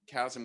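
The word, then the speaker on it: Kazm: it's called chasm now chasm with a k how do you spell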